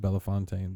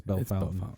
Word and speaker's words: Bellefontaine: in 1980 in Bellefontaine we say Bellefontaine you could pronounce it Bella Fontaine but I think colloquially speaking it's Bella fountain yeah man River Mountain